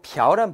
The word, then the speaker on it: 朴: 부란 발음도 있고 벼란 발음도 있어요.